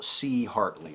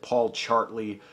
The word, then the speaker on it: Paul C. Hartley: And I should also mention, last week's shout out was to Paul C. Hartley. I mispronounced it. I said Paul Chartley, which a lot of people were kind enough to point out was a really stupid thing to say.